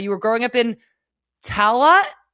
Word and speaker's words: Tallaght: Before you were, building your very own house with your very own sauna, you were growing up in Tallaght. How did I do with that? Tallaght, yeah. Good pronunciation.